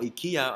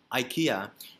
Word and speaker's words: IKEA: having a conversation and we were talking about ikea or ikea either way it's fine because we are not